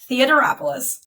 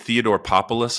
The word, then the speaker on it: Theodoropoulos: Theodoropoulos. That's pretty good. Mine gets butchered quite a bit. I get Theodoropoulos a lot for some reason. There's only one P, but I don't know.